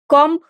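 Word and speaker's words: comb: आतो का विशिष्ट भाग कॉम इसमें कॉम होता है बी साइलेंट रहता है नाउन है एन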